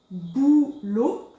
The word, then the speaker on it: boulot: Ici, boulot, on ne prononce pas le T, boulot.